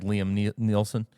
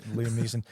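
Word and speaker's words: Liam Neeson: You'd be like Liam Nielsen. I'd be walking her through Liam. I said that name wrong. Liam N. Liam Niss.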